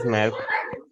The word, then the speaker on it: Maersk: I don't know how to pronounce it. It's completely correct. It is Maersk.